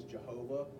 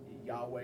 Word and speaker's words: Yahweh: doesn't really matter, but the pronunciation of God's name from Hebrew into English as Jehovah is actually an incorrect translation. Yahweh is a much more accurate of the letters, the way the Hebrew works in the vowels and etc.